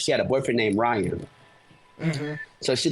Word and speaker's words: Ryon: yeah it's actually spell I know but yeah it's pronounced Ryan but yeah C start